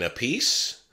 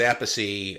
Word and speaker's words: Appice: legendary rock drummer carmine apiece my apologies to carmine i referred to his last name as apace i swear i've heard